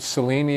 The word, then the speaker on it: Cellini: So now you've mentioned this alum, Richard Cellini is how That's you pronounce it.